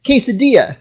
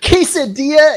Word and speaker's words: quesadilla: My Spanish teacher, the very first day of class, was so adamant that the double L does not pronounce that sound because you don't call it quesadilla, do you?